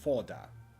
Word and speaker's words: Foda: And the company's name is Foda. Like cannon fodder.